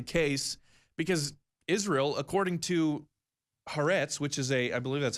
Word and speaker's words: Haaretz: But that's not the case, because Israel, according to Haaretz, which is I believe that's how you pronounce it, it's an Israeli news outlet, Israel has reportedly provided direct aid and funding to Syrian rebels.